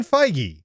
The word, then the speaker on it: Feige: It's Kevin Feige.